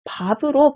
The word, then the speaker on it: 밟: 그 다음 2번 밟은 예외적으로 자음 앞에서 밥으로 발음되므로 비읍은 적절하군 되어 있는데요. 리을 비읍으로 끝나는 용언인 밥은 예외적으로 자음 앞에서 밥으로 발음한다는 거 찾을 수 있습니다.